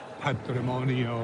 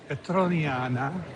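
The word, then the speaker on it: Petroniana: I kept getting the name wrong. I thought it was like patrimonio or something. Petronana Petronana. I'm saying it like our guide like our guide said it.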